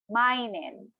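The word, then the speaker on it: 毎年: One time again, slowly, per syllable. Maigetsu. Every month. And then for every year, mainen.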